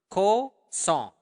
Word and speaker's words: kosong: it up to me ko song uh make sure that you are pronouncing the nestle sound there cause song song like a song okay so ko song